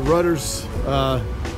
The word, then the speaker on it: Rutter's: ] okay at the rudders that's how you pronounce it rudder is like a boat rudder yeah on first taste